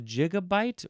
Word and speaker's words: gigabyte: Um, some people like to say I'm just going to do a little a little here. Um, a A jig bit. A jigabyte. Oo, this sounds weird to me. I don't like that at all.